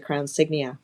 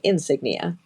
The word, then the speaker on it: Crown Signia: card that I have right now is a crown signia I said it right Toyota Toyota has a crown signia um which I think a lot of us have said we keep calling it Insignia because that's just the easier word and and